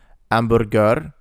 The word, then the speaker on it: hamburger: in job in English, hamburger, the H sound is silent in Italian.